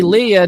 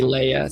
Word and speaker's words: Leia: name guys I mean if you say Leah just you know because you want to it's fine but you know how your name if your name gets mispronounced you're kind of like irritated about it so if you're irritated just say Leia stop saying that's fine